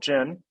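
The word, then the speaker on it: Djinn: of the tonic platform called gin that's spelled d-g-d-j-i-n-n excuse me um and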